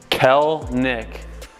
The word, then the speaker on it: Kelenic: pronounce your last name it's really easy two syllables Kel Nick okay ignore the second